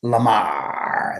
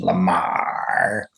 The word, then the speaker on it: Lamarre: Mario Lamar, that's the French pronunciation, Lamar.